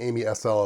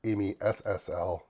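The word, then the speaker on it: AmiSSL: and install amsl first keep saying Amy SL it's Amy SSL Q say it right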